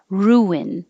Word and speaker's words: ruin: When you say ooh, your lips go forward and then they come back to make the N, and it makes an invisible W. Ruin, ruin. And it's very similar to the Boston hockey team, the Bruins.